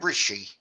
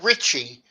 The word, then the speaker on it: Rishi: card when he okay just call him rishi not richie rishi rishi okay well richie richie has